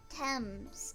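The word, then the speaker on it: Thames: oh I'm a dumbass TS oh TS temps okay Kashi scanned the map of the riverfront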